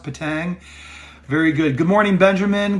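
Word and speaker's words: Petang: how did i do is it patang p-e-t-a-n-g i know that but is it's pronounced patang very good good morning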